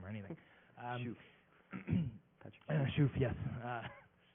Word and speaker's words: Shuff: to like read or ask him how to pronounce his name or anything. Shuff, yes.